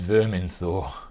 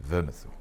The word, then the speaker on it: Vermithor: Oh, by the gods, it's Verminthor. You know your history, Lord Stark, though it's pronounced Vermithor.